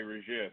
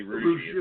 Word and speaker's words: Rougeux: It's French, so my dad will say Rougeux, but it's really Rougeux is how we said it.